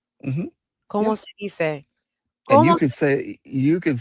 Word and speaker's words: dice: And but in that you, in the formal tense of you, it's spelled dice, like dice, Mm-hmm. but it's pronounced dice.